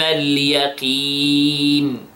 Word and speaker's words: اليقين: Okay, and then القاف in اليقين. We pronounce it in the lowest level of tafkhim. So yaqi, don't say yaqi. Okay, so again, ilm al yaqin.